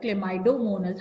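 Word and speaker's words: Chlamydomonas: can be either unicellular cido monus how do we pronounce it clid c h l a clay clay my m y my d oido m o n a s cido monus okay cyonus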